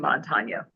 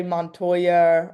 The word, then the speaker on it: Montanya: over the N is definitely And you got the name Montanya. right because a lot of people say Montoya or Montana or they think we're from Montana.